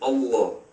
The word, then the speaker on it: Allah: The Arabic word is Allah. The difference is mainly the elongation of the L.